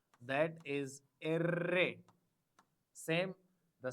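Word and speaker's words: erre: Array. The pronunciation of R is array. R is pronounced as array.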